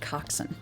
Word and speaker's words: coxswain: one who constantly steering the ship it's actually pronounced coxson yeah I was about to say [ __